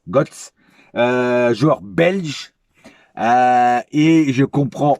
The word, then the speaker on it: Godts: Je pense que c'est Götze que ça se dit. Hein. Götze, G-O-D-T-S, Götze.